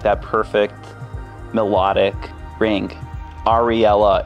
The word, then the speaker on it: Ariella: Ariella, it's three syllables. Every syllable just has such a soft, nice sound. And it rings together in such a beautiful way.